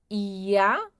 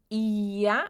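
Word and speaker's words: ihr: Ia ia. Aqui nós também fazemos a pronúncia como se tivesse um a no final.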